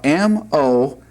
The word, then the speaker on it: Moshe: M-O-S-H-E. Moshe. And that's how you pronounce Moses' name.